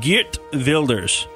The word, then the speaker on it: Geert Wilders: that is the correct right. Dutch mm-hmm. pronunciation would be Geert Wilders.